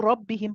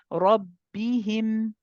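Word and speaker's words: رَبَّهُمْ: And also Rabbihim, Papaji, the fatha on the ra. Not ra, Rabbi, ra, Rabbi. So finish the. What I want you to do is when your tongue moves away from the makhraj of the ra. Normally when you say ra, fatha, ra, you feel the tip of the tongue come down, right? You need the tongue to complete that movement before going to the ba.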